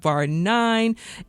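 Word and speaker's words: Bar IX: Alyssa Graf is the founder of Bar 9 and like Title 9 spelled with the Roman numerals, like Roman Roman numerals.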